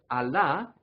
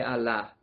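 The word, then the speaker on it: Allah: dios a la palabra alá en árabe es dios ahí se escribe a veces con una sola ley y a veces con doble l pero siempre se pronuncia como si fuera una sola eso a la en vez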